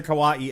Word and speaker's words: kawaii: to make everything cute and this is the kawaii is that how it's pronounced yep this is the kawaii episode um my daughter thought this was great